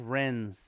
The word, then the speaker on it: wrens: i mean christine uh rents are pronounced wrens yeah rins uh thank you um the w always throws me off so you know it'd